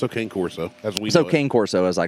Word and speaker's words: Cane Corso: canario or it's an it's not even king court it's like carne corso or something i don't know well it's spelled c-a-n-e and they call it carne carne corsa okay whatever it's it's